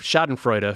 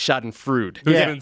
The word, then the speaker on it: schadenfreude: day central last night pronounced it shot and freud i noticed that when